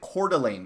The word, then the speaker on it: Coeur d'Alene: make waves for whatever reason pronounce it you pronounce it Coeur d'Alene okay thank you Nate see if if we